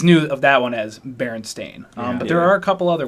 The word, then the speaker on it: Berenstain: the berenstain bears man people believe it's the Berenstein bears no care anybody says DISA Berenstein bears the reversion it is actually pronounced berenstain bears no there's no now no now no